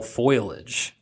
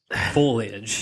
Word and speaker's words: foliage: man look at all the fall foilage the word is foliage F yeah and I